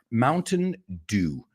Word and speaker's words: Mountain Dew: Mountain dew. Mountain Dew. Dew suena como hacer, que es rocío. El rocío de la mañana. Mountain Dew, right. But also, it was this illegal liquor. También Mountain Dew era moonshine.